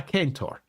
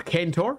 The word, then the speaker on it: centaur: or if you wish, if we're pronouncing it ostensibly correctly, a kentor. So a kenour if you prefer.